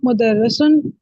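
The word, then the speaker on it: مُدَرِّسٌ: मुदर्रिसुन, रा के नीचे जेर है।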